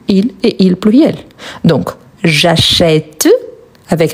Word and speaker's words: j'achète: Mais quand je le prononce, je dis j'achète. J'achète, c'est un son ouvert.